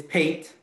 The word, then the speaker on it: Pate: have cut and please correct me if i'm mispronouncing your last name it's pete but it's okay hey okay sorry pate um city manager for